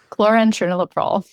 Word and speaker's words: chlorantraniliprole: Chloren Trinilop.